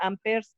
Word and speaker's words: amperes: Se escribe amperes, se pronuncia amperes como si la última E no existiera.